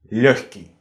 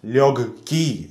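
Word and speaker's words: лёгкий: It is naturally hard to pronounce it «легкий», so in Russian we replace the «г» on «ха» and pronounce it «легкий», «легкий». It's because if something is hard to pronounce, then people will find an easier way.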